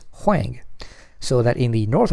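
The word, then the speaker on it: 黃: However, the same two surnames in the Peking dialect are pronounced differently. One is Wang and the other is Huang, so that in the north of China, the two surnames did intermarry.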